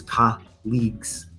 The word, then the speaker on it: colleagues: it's a synonym right but the pronunciation is Ka leagues right no just because